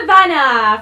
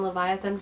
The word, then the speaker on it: Levana: I can't ace Queen Levana from the lunar Chronicles I thought it was Queen Leviathan for the longest time but they know that's not what spell thing but she is